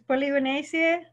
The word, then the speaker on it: Polygonaceae: It's Polygonaceae, okay.